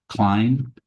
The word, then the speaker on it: Klein: So a Vedanta teacher who's passed away now, pretty well-known one by the name of Jean, I think it's pronounced Klein, who was born in Germany.